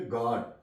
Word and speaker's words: guard: For example GUARD, अब यू के बाद ए आ गया तो यू यहां पे साइलेंट है। इसे पढ़ेंगे गार्ड।